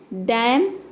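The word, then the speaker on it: damn: भी N silent है डैम hymn इन सभी वर्ड में एन लेटर साइलेंट है तो किसी भी वर्ड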